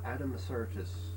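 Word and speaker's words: Addamasartus: Adam Sartis.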